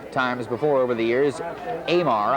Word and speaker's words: Amar: before over the years Amar I think is the way it's pronounced a m a r Kevin Amar huls the